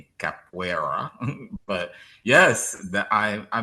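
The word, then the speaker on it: capoeira: I know it's so tricky because the spelling is deceptive. The Portuguese. Um, cap capua. Capua. Exactly. So, I guess the phonetics phonetics would be c a p we d a capua. even though it's spelled C A P O E I R A capera but yes that I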